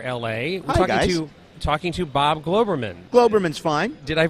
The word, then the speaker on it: Globerman: Globerman, it's Glauberman, but we are people, swarthy people who come from Russia and Poland. Who knows? Who knows what it is? But Globerman or Glauberman works.